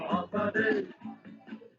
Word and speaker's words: Hafa Adai: Just pronounce it as in half a day. Sing it with a beat and say it every day. Like Hafa, Hafa, Hafa, Hafa Day.